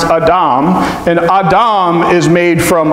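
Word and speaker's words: אדם: about Adam and Eve Adam is a in Hebrew he pronounced a domme and Adam is made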